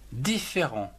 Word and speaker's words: différent: Différent, D-I-F, diff, F-E, accent aigu, fait, R-E-N-T.